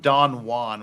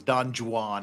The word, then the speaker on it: Don Juan: for he except for his pronounce his pronunciation of Don Juan was Don Jan and that kind of that kind of irked me a little bit but that's